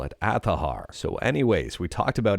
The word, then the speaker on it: Azahar: Well, this is right from Azahar's Twitter account, and they say it's pronounced Azahar. And let me know what you think about that one. That's why I call it Azahar.